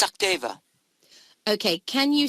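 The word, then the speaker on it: Sachdeva: It's Sakdeva. Yeah, Sakdeva. Okay, can you spell that for me?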